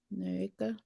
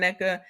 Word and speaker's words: Nneka: she was like, "Oh, that's not her name. You pronounce it this way, Mm-hmm. Naeka, Nneka. Naneka." I don't know. She said it like I said. I got to get more people saying it correctly because I just hear everybody. The reviewers are saying Neka. The people on the show are saying Neka. Ashley is even saying Neka.